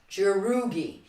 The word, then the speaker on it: jerugi: do our punch so a punch is jerugi it kind of sounds like the word for sparring which is gurugi this is your rookie